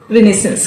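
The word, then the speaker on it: renaissance: इस वर्ड का प्रोनाउंसिएशन होता है रिनेसेंस। क्या प्रोनाउंसिएशन होता है, ध्यान से बोलिएगा, रिनेसेंस। मेरे साथ बोलिए, रिनेसेंस, राइट?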